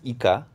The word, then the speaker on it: Ika: the correct pronunciation is Ika. I'm actually not 100% sure I'm doing it with the exact right pronunciation because it's in Japanese, and it means squid in Japanese.